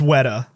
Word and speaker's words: Weta: the magicians at jackson's weta workshop raiding it's pronounced wedda what a workshop what